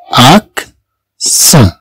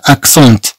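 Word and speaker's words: accent: لا نقول هنا اكسونت بل نقول اكسون.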